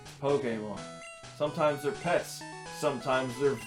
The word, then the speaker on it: Pokémon: That's how you pronounce it, by the way. Pokemon? Not Pokemon or Yeah. whatever the heck other people say. Right. Pokemon.